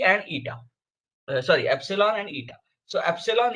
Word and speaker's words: eta: Yes, that is called as eta.